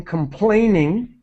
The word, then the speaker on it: complaining: It means, so this would be, there is no use in complaining. Complaining. Now, the way complaining is because we often underpronounce ing. So complainin'.